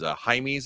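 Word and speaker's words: Jaime's: My backup option for Maya Chan is Haime at Blue Reef. Jamie's is how you probably know how to spell it when you Google it.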